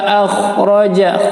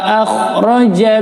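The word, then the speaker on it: أخرج: ma'an fa akhraja, kha-nya terjelas di tenggorokan, fa akhraja bihi minas thamara, menggunakan huruf ta ya, minas di ujung lidah, bukan minas ya.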